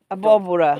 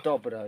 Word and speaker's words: abóbora: Abóbora. Abóbora, yeah.